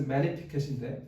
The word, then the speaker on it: Magnificat: 자, 그러면 이 라틴어로 된 이 매그니 원래는 MAG가 들어갔는데 이게 G가 묵음이에요. 그래서 magnificat인데 어쨌든 이 magnificat을 하나님 이 마리아가 찬양하는데, 그럼 도대체 우리에게 질문이 있어요.